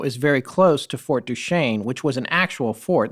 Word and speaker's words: Duchesne: And so Bottle Hollow is very close to Fort Duchesne, which was an actual fort. That's why Yeah. it's called Fort Yeah. Duchesne, Right.